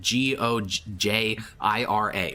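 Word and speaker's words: ゴジラ: like that movie, but in Japan the title literally is like G O J I R A. Like it's spelled Gojira.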